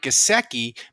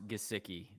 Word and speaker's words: Gesicki: apparently the dolphins are thinking of trading mike gaseki because they want their tight end to block uh in the new offense and somehow managed to mispronounce gesicki that that gosiki's like jimmy graham he doesn't